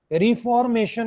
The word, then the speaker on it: reformation: Reformation नहीं है ये. स्ट्रेस हमेशा शन से पहले वाले सिलेबल पे आना.